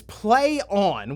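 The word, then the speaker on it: Plaion: the logo pretty straightforward as to how to pronounce that one right it's p-l-a-i-o-n okay I'll help you out it's it's play on which for what they want people to view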